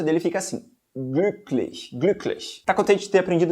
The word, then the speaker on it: glücklich: É isso aí, a pronúncia dele fica assim, glücklich.